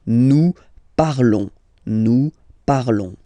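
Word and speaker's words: nous parlons: Okay, new par. Okay, remember final S is not pronounced. Okay, and then this O N together they will give you the sound. Okay, new par.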